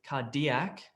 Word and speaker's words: cardiac: Which is the correct word stress here? Where's the emphasis on which syllable? I think I sort of gave it away there. Cool, you guys are too good. Exactly. So the correct word stress here is cardiac. It's not cardiac, cardiac, and it's not cardiac, cardiac.